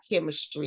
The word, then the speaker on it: Kemistry: And please, that's spelled KEMISTRY, chemistry, like the singer Kim.